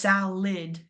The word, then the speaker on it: salad: So, that first a is stressed because it actually says its vowel pron pronunciation, the sa. And then that second a at the end that a is makes the i sound. So it's salid.